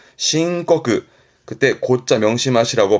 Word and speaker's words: 申告: 발음은요. 신고그.